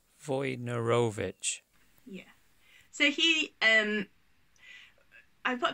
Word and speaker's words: Wojnarowicz: Wojnarowicz.